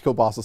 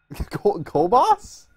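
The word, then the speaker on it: kielbasa: man i love everyone i've always pronounced kobas kobas i don't know that's how we've always pronounced my family well john luke your your family's wrong i'm at the church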